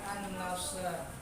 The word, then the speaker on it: An-Nasr: yang pertama surah an-nasr surah an-nasr itu bacanya an-nasr Ya karena dia itu termasuk dalam wakaf termasuk ke dalam wakaf apa sih Pak waqaf